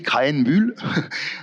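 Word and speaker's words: Krähenbühl: Oui, Krahenbuhl. Pour bien le prononcer, Krahenbuhl.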